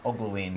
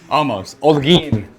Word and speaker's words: Olguin: This is the guy to come see, Appreciate Olguin. Did I get it right? Almost. Olguin.